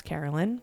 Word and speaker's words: Carolyn: I always get mad because my name is 3 syllables, Carolyn, in case you didn't know what my name was.